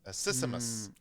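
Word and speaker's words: accismus: s m u s a systemus is I believe how it's pronounced and it's a form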